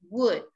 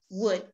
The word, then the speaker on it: would: remember this word is the letter l is a silent letter would this one is you say it like like madeira how do you say madeira would so it's the same